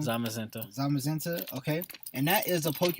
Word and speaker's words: Zamazenta: We messed up that pronunciation. Zamazenta.